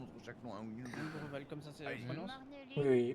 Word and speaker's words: Ombreval: Ombreval, comme ça, c'est la Allez-y.